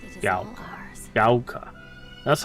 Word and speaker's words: Ebisugaoka: Ebisugaoka. And it is Gaoka. all ours. Gaoka.